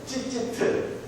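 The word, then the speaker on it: ציצית: 여러분들 이 옷단술이라고 하는 것을요 이게 찌찌트라고 했어요. 한번 발음해보면 찌찌트 이 옷단술이라고 했어요.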